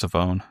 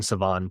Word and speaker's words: Shavon: It's Shavon. It's Shavon, or I've been saying Shavon, but you don't pronounce the H.